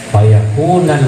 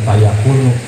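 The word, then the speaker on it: فيكونَ: Jadi hatmun nasab ini dibacanya fayakuna, bukan fayakunu, sebab sesudah apa namanya nahi.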